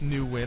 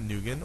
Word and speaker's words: Nguyen: Yes, Nguyen, I pronounced it right, not Nguyen or Nugget.